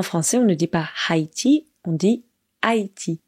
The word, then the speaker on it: Haïti: on ne dit pas Haïti on dit Haïti on ne prononce pas le h pour celles et ceux